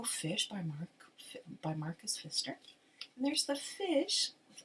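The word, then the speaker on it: Pfister: the name of Marcus Fister so it's p f i s t r but the p is silent English is such a weird language so it's Marcus um Fister wrote the the rainbow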